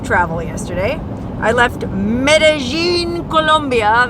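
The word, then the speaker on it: Medellín: yesterday today I left medine columia that's right they pronounce it medine medine Colombia medine however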